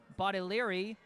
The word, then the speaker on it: Bodiliri: Only Relaxation 4623 saying that the quarterback's last name is actually pronounced Bodiliri. So I think the G in his name is silent.